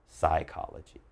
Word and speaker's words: psychology: the study of psychology again not psychology just psychology so that down here